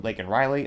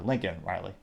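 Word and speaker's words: Laken Riley: Cameron Gilman says, quote, call illegal aliens, say your name, Lake and Riley, unquote, getting 489 likes, which, yeah, he butchered her name. He called her Lincoln Riley.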